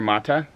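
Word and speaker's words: Sagarmatha: Or Sagamartha. Or Mata. Mata. Because in Nepali, TH is pronounced with a T.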